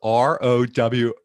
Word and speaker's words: Roworth: That is Roworth, just so I have the pronunciation correct.